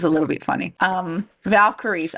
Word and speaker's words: Valkyries: little bit funny um Valkyries as in the as in the female Warrior character from the Thor movies yes um but you